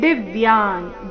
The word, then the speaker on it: ದಿವ್ಯಾನ್: ನಾಸಿಕಾಮ ರೀತಿ ಬರಬೇಕು ಮುಂದೆ ದಿವ್ಯಾನ್ ದಿ ಮೇಲೆ ಆಘಾತ ಋಷಿ ಸರ್ವಾನುರಗಾಶ್ಚ ದಿವ್ಯಾನ್ ನೋಡೋಣ